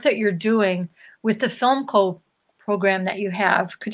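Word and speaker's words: Philmco: He's a close friend, and he's my partner in the company called Film Co. Significantly, it's spelled P-H-I-L-M-C-O.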